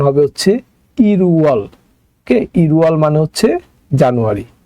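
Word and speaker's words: 일월: easily গণনা করতে পারবো তো এখানে আমরা যে উচ্চারণটা করলাম ইল উয়াল ইল উয়াল এটা কিন্তু যখন আপনি একসাথে বলবেন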